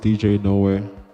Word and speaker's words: D[NowHere]J: So it's pronounced DJ NowHere, but it's spelled D NowHere J with square brackets on NowHere. And the emphasis is that the D and the J are headphones to nowhere.